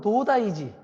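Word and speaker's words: 東大寺: 이게 한자로 쓰면은 우리 발음으로 하면 동대사. 일본 발음대로 하면 도다이지.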